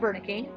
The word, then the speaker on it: Wernicke: There are two people, Broca and Wernicke, spelled with a W, but again, German, so we pronounce it with V.